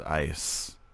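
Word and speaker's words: Eis: Oh, that's how so you say it, but it's the same, but spell it different. German word for ice is ice.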